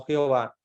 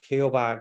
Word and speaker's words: Jehová: ustedes saben que obviamente la J que nosotros pronunciamos como j y la H no se pronuncia entonces quedó Jehová como